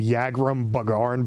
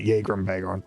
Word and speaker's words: Yagrum Bagarn: technically his I think I should be pronouncing his name his name yagrum bagarn but I'm going to pronounce it jagram bag on because it's makes more sense oh there's there's oopsy